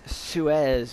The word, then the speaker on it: Seuss: Seuss, Dr. Seuss, not pronounced Seuss. It's Suez, or Suez, or something, which just seems really, I don't know, it's like, I don't like that at all.